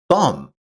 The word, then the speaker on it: thumb: English has many words with silent letters like the K in knock or the B in thumb.